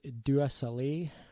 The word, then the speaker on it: Dua Saleh: Another artist I've really been digging lately is Dua Saleh. I will spell that.